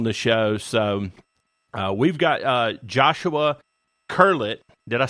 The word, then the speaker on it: Joshua Curlett: So we've got Joshua Curlett.